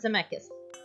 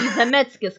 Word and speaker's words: Zemeckis: It sounded very Lithuanian. Yeah, because it's spelled C-K-I-S at the end, and like I always emphasize that Zemeckis, like that's how we pronounce it.